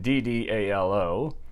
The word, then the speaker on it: Ddalo: Well, the computer says you pronounce the D's as if it was a T, as in Tom. So the correct pronunciation in Korean is Ddalo.